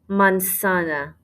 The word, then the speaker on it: manzana: for apple la manzana la mansana make sure you do not say a z sound in there la mansana in orange